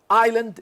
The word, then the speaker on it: island: is the same okay island islam island islam this is here it is not pronounced here islam it is pronounced so it is different listen listen is not